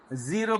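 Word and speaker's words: zero: আবার জিরো বলতে গিয়ে আমরা বলি জিরো, জিব্বাটা উপরে তালুর সাথে লাগিয়ে দেই, জিরো বলি। এটা ভুল উচ্চারণ। উচ্চারণ হবে জিরো, সফট। জিব্বাটা নিচের দিকে থাকবে, জিব্বার মাথাটা সামনে যাবে।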